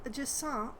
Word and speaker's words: Jusant: Uh, this game is called Jant, I believe. Uh, since it's a French word, I believe it's pronounced that way.